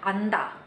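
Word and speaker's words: 앉다: Yang dipilih adalah huruf N. Huruf N-nya ya. Jadi kata ini dibacanya anda. Anda. Nah, tapi kalau misalnya dia ketemu sama huruf vokal, dibaca dua-duanya. Anja.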